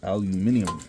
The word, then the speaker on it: aluminium: Let's cut that bad boy open and see if we got copper or aluminum. Or as the Brits say, aluminium. We are in America, so we do not say that.